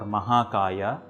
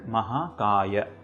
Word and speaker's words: Mahakaya: The rest are not long Dirgha sounds like Prabha or Mahakaya. They are short or Hrasva sounds like Prabha and Mahakaya.